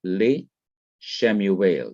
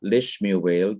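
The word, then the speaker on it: לשמואל: So you have le shemuel, not lishmuel, but le shemuel. So the second schwa remains vocal, that is, it is to be pronounced as it was before the preposition was attached.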